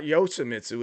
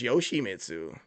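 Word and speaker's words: Yoshimitsu: It's not it's not Yoshiitsu. It's Yoshi Mitsu.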